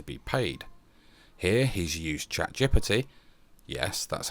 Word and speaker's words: ChatGPT: Here he's used ChatGPT, yes, that's how you pronounce it, which, as we know, is not